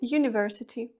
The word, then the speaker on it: university: Our або A University. Так, ми ніби маємо нашу літеру, яка зазвичай вимовляється як голосна літера А, але тут вона вимовляється як й починається з нашого приголосного звуку й.